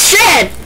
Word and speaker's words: Shen: you're laughing is Chen it's not Chen it's Shen Shen yes oh I've known